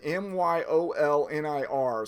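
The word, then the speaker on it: Mjölnir: There's only 1 team left in the hat, and that is the mighty Mjolnir, M-Y, it's, even though it's a J, you're supposed to pronounce it Myolnir.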